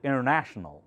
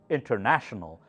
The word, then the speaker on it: international: international sometimes the Americans many Americans do not pronounce this n before T so it sounds like international but it should be flexible you should know that they meant international you should try to say international pronounce that n okay do not go